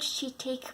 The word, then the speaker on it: shiitake: Number 5, Shiitake mushrooms, not shiitake mushrooms. My friend the other day said, "Oh, I heard shiitake mushrooms are so good for you." No, they're shiitake mushrooms.